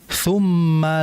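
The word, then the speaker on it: ثُمَّ: Kalau harakat dommah itu cara pengucapan yang benar melainkan dengan cara bidammi syafataini dammah dengan cara memonyongkan kedua bibir. Jadi harus dijelas tsumma jangan dibaca tsumma.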